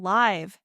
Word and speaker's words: live: is the difference between live and leave. Even advanced speakers mix them because the sounds are so close. Yes, live has a short I like sit and leave has a long e sound.